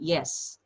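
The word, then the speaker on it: jes: Ya, J tanpa topi dibacanya Y. Jadi yes. Kalau tidak, ne.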